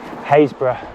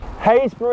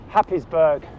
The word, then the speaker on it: Happisburgh: ancient footprints lighthouses revetments you name it hatred haysbruh would you believe it hayes brewer is a village in norfolk spell h a p p i s b u r g h happysburg we love those norfolk pronunciations let the adventure